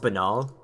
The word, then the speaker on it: banal: Bloodstain does not look like it's the result of a banal injury. It's actually pronounced banal.